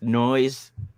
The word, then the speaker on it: Noize: canada and the third the 13 is silent correct it's noise 13.